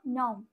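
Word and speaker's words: नौ: হচ্ছে নয় নয় আমরা বলবো বাংলায় কিন্তু হিন্দিতে উচ্চারণ করব নও দন্তন্য ঔকার নও দন্তন ঔকার নৌ হয় কিন্তু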